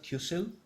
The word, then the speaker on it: QCIL: I'm calling qcil Houston when you pronounce that Q cell I'm still coming up